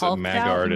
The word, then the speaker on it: Maggard: Maggard every time you say magard I think of haggard let me so they run into pronounced magard in the book funny magard so they run